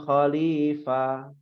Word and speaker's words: khalifah: Dia di-cut ya ketika dibacanya huruf fa-nya. Bukan khalifah, enggak fa, tapi fa.